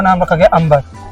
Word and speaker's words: Amer: का नाम रखा गया अंबर। बी साइलेंट इसलिए हुआ क्योंकि अंग्रेजों से अंबर बोला नहीं जाता था। तो उसमें से बी साइलेंट हो गए और ए एम ई आर अमीर हो गई।